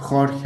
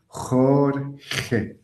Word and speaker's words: Jorge: Ici, j'ai mis l'écrivain Jorge Luis Borges, qui n'est pas facile à prononcer. Jorge.